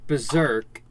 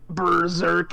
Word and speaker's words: berserk: is an S cope berserk it's an S not a z uh it hurts um